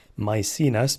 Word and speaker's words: Maecenas: and you had to tell me how to pronounce my scene us because it's ma e c e na s